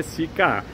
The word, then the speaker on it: Sika: Lembrando que cica se escreve S-I-K-A. Tem gente escrevendo sica de tudo quanto é jeito. É sica.